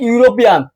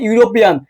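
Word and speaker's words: European: এই যে ইউরোপিয়ান, এই যে ইউরোপিয়ান, এ উচ্চারণ ই, ই ভাওয়েল, এর ভাওয়েল হওয়া সত্ত্বেও আমরা জানি কি ভাওয়েলের আগে এন বসে, কি বসে বলতো, ভাওয়েলের আগে এন বসে। এখন কি এই যে ইউ, ই এবং ইউর উচ্চারণ যদি ইউই হয় তাহলে তুমি সেখানে কি বসাবা, সেখানে তুমি এ বসাবা, তাহলে কি হবে, এখানে এ হবে।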